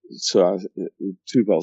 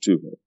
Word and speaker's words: Tubal: And then it goes on to, you can pronounce a B as a V in Hebrew. Tubal.